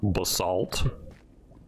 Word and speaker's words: basalt: Basalt.